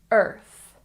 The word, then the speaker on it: Earth: Earth. Don't forget the TH sound. Stick your tongue between your teeth.